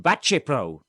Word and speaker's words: Baceprot: But how do I know it's pronounced Bacepro?